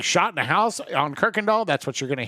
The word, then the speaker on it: Kuykendahl: And it is pronounced Kirkendall. And maybe it's not originally supposed to be pronounced that way, but 99 out of 99 people in Houston, I should say probably 100 out of 100, will say Kirkendall.